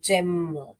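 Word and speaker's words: gem: तो यहां पर हम इसे जेम कहते हैं ना कि गेम।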